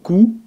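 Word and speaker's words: 九: Pour 9, on dira ku ou kyu.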